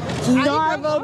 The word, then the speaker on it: Naval: His name is Narvel, but it's spelled like Naval.